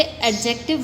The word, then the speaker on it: adjective: आमतौर पे बच्चे इसे एडजेक्टिव बोलते हैं, लेकिन ये क्या होता है? एडजेक्टिव होता है। डी इसमें साइलेंट होता है, ठीक है।